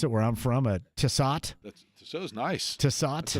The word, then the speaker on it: Tissot: And this is a Tissot, as I pronounce it, where I'm from, a Tissot.